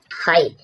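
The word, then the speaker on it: high: यदि किसी शब्द के अंत में जी एच जी एच टी हो तो जी एच प्राय साइलेंट रहता है। जैसे हाई हाई मीन्स ऊंचा यहां पर क्या हुआ है?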